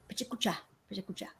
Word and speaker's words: Pecha Kucha: It's actually pronounced in Japanese something like Pecha Kucha, something.